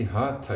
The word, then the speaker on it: Hatha: tá ou melhor dizendo mais precisamente devemos pronunciar Esta palavra e esse rata yoga antigo ele tem particularidades